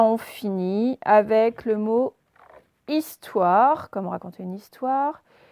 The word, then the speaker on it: histoire: Je vous dis juste que histoire, il commence par un H muet. Allez-y. Donc, un H muet au début d'histoire. Is, donc I-S. Toire. On se rappelle, son wa comme boîte, c'est OI.